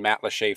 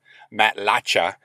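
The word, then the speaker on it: Matlacha: photos while out in mat leche Florida mat lacha as it seems it would be pronounced and I just wanted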